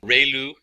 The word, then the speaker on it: ReLU: We have the ru is pronounced like ray the ray of from the sun and lu like a name. So ru function.